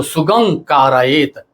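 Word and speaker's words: सुगमं कारयेत्: ऐसा आया हुआ है, तो सुगम के म का परिवर्तन कारयेत के कारण म का अंग हो जाता है, इसलिए उसका जो उच्चारण करते हैं तो सुगम कारयेत ऐसा बोलते हैं।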